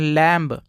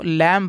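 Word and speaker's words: lamb: एल ए एम बी तो बहुत सारे लोग इसको पढ़ते हैं लैम लेकिन दोस्तों इसको लैम नहीं पढ़ते हैं इसको लैम पढ़ते हैं यहां पर बी साइलेंट होता है तो साइलेंट कब होता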